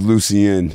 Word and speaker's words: Lucien: My name is Lucien. That's like the proper pronunciation. Oh, just, yeah. Yeah, so okay. Lucien, just drop the E-N.